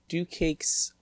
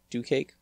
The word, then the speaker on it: DuCake: Hello everyone, welcome to this server showcase of DuCake's Vivarium? Vivarium. I'm assuming that's the correct way to enunciate it. I'm also assuming that, DuCake is how you're supposed to pronounce DuCake.